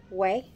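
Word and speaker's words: OUAI: I think it's Way. It's O-U-A-I. Way.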